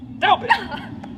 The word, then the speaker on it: doubt: I abhor such fanatical phantasms, such insociable and point device companions, such rackers of orthography, as to say doubt, when he should pronounce Daubit.